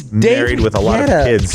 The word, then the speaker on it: David Guetta: Say it right. What is it, David? I'm sorry, but I don't know the DJ scene like you guys do, okay? I'm It's David Guetta.